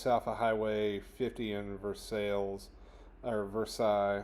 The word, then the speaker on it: Versailles: Uh just south of Highway 50 in Versailles uh Versailles. I don't know how y'all pronounce it up there. If it's Kentucky, I would say Versailles.